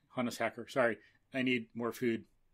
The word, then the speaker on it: Hannes Hacker: again talking about engineering with the veteran engineer hannah soccer honest hacker sorry i need more food otherwise i would pronounce it right the first time sorry honest